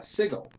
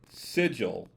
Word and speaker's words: Sigil: setting will tell you if you pronounce the city name as sigil your uh your will probably make no friends and maybe even have a very short life there with the first syllable sounding like the beginning of cigar okay yeah it's um